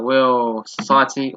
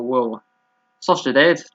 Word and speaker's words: Real Sociedad: So Real Society or Real Sociedad, depending on which way you pronounce that team.